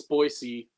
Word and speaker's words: Boise: Even Brazilians that speak Portuguese, they pronounce S with a Z sometimes in Portuguese. When they come here to because there's a big population here, they pronounce Boise.